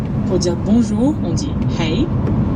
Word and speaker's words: hei: Alors pour les bases en norvégien, pour dire bonjour, on dit hei. Ça se prononce comme hey en anglais.